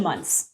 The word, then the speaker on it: Munc: The most common and inaccurate pronunciation is Munc, because there's a lot of hard C's in the English language, but it's actually Muntz, like M-U-N-T-Z. Muntz.